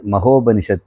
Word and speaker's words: மகோபனிஷத்: மகோ உபநிஷத் மகா உபநிஷத் மகோபனிஷத் அப்படின்னு உச்சரிக்கிறோம் இப்ப நம்ம பார்க்க போறது